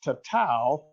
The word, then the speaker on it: tatau: uh story but uh it's pronounced tatau in polynesia uh followed yet polynesian